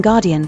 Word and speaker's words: guardian: The D in guardian satisfies the American English flapping rules, see wiki, since the stress is on the first syllable of that word. I doubt that many American speakers have an actual plosive there, I certainly don't. Instead, it's the same sound as the voiced T in party.